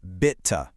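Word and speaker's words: Bitte: Next is a really versa. It means please, but it can actually also mean you're welcome. It's pronounced bita.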